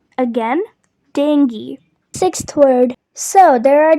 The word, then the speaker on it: dengue: So it is pronounced as dengue. Dengue, not as dengue or dangy. That is wrong. The correct way is dengue. Again, dengue.